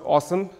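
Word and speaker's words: OSEMN: data products there's a really cheeky acronym pronounced awesome to describe the work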